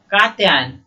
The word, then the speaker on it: कात्यायन: मैं फिर से बता दूं, ओरिजिनल पुस्तक से देखिए, कात्यायन।